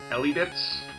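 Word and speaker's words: Elebits: It's a Konami game for the Wii, and I think you pronounce it Elibits.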